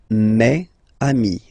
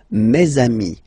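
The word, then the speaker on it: mes amis: plural form so it's me Ami okay and then let's be purist and make this beautiful Le between these two words mamami meami all right so I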